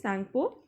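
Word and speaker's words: Tsangpo: T is silent, children, so it is Sangpo.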